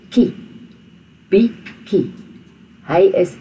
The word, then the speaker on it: bietjie: So, hy is 'n bietjie honger. Now this is the TJIE is not pronounced with a TJ at all. It's pronounced with a KIE. Ki. Bietjie.